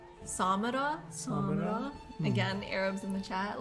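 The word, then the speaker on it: Samarra: So, I think you say it like Samara.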